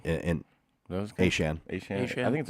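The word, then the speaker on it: Achane: He said A-Chain. It's A-Shan.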